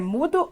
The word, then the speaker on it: mudo: mudo a palavra é mudou é mudou a palavra é mudo a então a tonicidade está no Mu significa que ela é